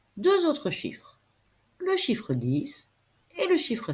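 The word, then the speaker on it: dix: 10, nous l'avons vu, s'écrit avec un X, même s'il se prononce S.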